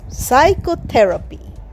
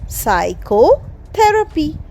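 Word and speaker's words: psychotherapy: medicine মনোরোগবিদ্যা চিকিৎসাবিদ্যার একটা গুরুত্বপূর্ণ শাখা না comes সাইকোথেরাপি পি এস ওয়াই সি এইচ ও টি এইচই আর এ পি ওয়াই সাইকোথেরাপি মানে মানসিক চিকিৎসা সাইকোথেরাপিতেও কিন্তু বি সাইলেন্টশি ইস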